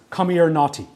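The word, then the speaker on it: Comirnaty: names see for example what I assume is pronounced as come or naughty what is this do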